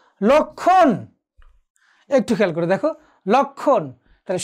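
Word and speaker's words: লক্ষ্মণ: যেমন ধরো লক্ষণ, একটু খেয়াল করে দেখো, লক্ষণ, তাহলে সংযুক্ত বর্ণের সাথে মফলা থাকায় উচ্চারণটি হলো না, সূক্ষ্ম উচ্চারণটি হলো না।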